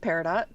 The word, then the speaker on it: Peridot: And as Cedarberry says, also the little peridot in the corner. That is for my computer. My computer is actually named Peridot.